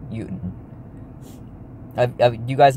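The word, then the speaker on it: Jötunn: I don't know why the movie pronounces it with Jotun, or Jotun, or whatever they pronounce the movie. It's Jotun. Jotun.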